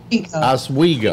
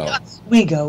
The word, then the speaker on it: Oswego: Did I pronounce it? Oswego. Oswego.